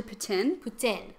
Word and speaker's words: poutine: see, so if you actually start pronouncing it correctly here, people are like, what? Or like with poutine, it's actually poutine.